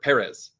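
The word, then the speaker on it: Pérez: This one might be lower than Emilia Perez for me. Fuck. Or Perez. I gotta get that one right. Get the hit the first syllable.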